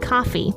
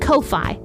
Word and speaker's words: Ko-fi: It's called Ko-fi. You'll see it linked in the description of the episode. It looks like Ko-fi, but it's actually pronounced Ko-fi.